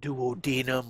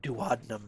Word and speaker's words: duodenum: units so there's is the duodenum which i've also heard pronounce uh duodenum or duodenum but i tend to pronounce it duodenum and so if that's not your preferred pronunciation then you'll just have to i guess kind of bear with me so there's